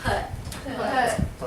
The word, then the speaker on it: put: Now, normally when a word ends with T in the middle of a sentence, we don't pronounce it. We don't turn it in an aspirated T that says T. We catch it. So I would say put without the T sound. I can't hear the T.